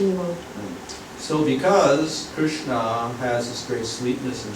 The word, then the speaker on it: Krishna: The name Krishna is divided into two syllables, Krishna.